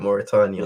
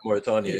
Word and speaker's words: Mauritania: Mauritania. Yeah, Mauritania, yeah.